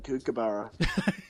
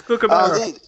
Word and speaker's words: kookaburra: I just love Americans saying kookaburra. It's kookaburra.